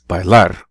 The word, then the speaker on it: bailar: to dance by laugh they pronounce it with a stress at the end of the word where the AR is bailar escuchar música escuchar música